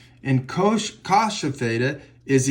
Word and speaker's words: cosh: Or you can say cosh rhymes with posh, and cinch rhymes with pinch.